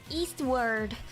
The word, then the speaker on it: Eastward: work Friday we're playing Eastwood Eastwood Eastwood Eastwood no East W no I'm not bored Eastward how do you say it Eastwood Eastwood Eastward Eastward East w yes anyways it's written on